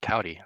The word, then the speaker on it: Kouty: How do you Kouty. pronounce that?